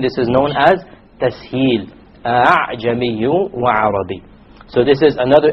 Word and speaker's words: أَعْجَمِي: You don't say أَعْجَمِي. Rather you pronounce it as follows. أَعْجَمِي, أَعْجَمِي. You don't pronounce it a full hamza, and you don't pronounce it as an alif, full alif. It is in between.